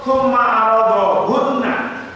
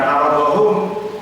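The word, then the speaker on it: ثُمَّ عَرَضَهُنَّ: Waqat qala Abdullah bin Mas'ud tsumma aradahunna. Kata tsumma aradahu, riwayat dari Ibnu Mas'ud ternyata bacanya bukan aradahum tapi tsumma aradahunna.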